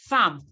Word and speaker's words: thumb: gave you code like when you have MB at the end of a particular word b is usually silent so you have climb